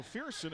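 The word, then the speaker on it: Firson: against kayln Wilson so fieron f i r s o n he and Brett Favre the only two people I have ever heard of who although the r is first it is pronounced second English language is a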